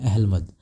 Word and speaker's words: अहलमद: post होती है जिसे बोलते हैं अहलमद कुछ लोग इसे एल मद बोल लेते हैं या फिर अपनी सुविधा अनुसार उसका जैसा भी उनको जो आम बोलचाल में उन्हें समझ में आता है उसका उच्चारण कर लेते हैं अहलमद साहब का या